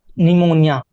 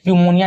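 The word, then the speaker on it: pneumonia: निमोनिया। ठीक है? निमोनिया होता है। ठीक है? प्यूमोनिया नहीं होता है। निमोनिया होता है। पी साइलेंट होता है।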